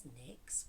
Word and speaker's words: Nyx: My name is Nyx, which is short for, and it's spelled N-Y-X, like the goddess for night.